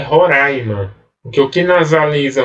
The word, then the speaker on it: Roraima: a gente mas que as pessoas pronuncie roraima mas o certo é roraima que eu fui na